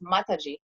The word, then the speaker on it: Mataji: But yeah, so basically Mataji is pronounced Mataji.